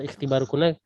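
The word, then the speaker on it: اختباركنّ: Mata ikhtibarukunna ya, mata ikhtibarukunna. Nah, ahsanti. Ini kita bacanya langsung ke huruf kha. Kenapa? Karena di sini hamzah wasol.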